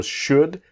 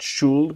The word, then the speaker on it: should: I should do now remember should the L is Silent not should but should what do you think